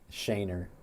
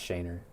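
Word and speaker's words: Schoenherr: Shainer. It's pronounced Shainer.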